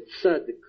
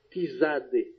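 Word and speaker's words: צדיק: Então TZ não se pronuncia, por exemplo, o nome da letra no hebraico é Tzadik, Tzadik ou Tzade. A gente não pronuncia Tizade, Tizade. O Z, esse TZ é Tsa.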